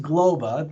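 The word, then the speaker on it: Globba: globa yes it's pronounced globa think of the globe you know but but a ba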